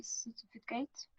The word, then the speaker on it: certificate: Or why do we pronounce this the first C as S and the second C as K? Because of the rule that before E, I, Y, we pronounce as S. And yes, and before before other letters as K.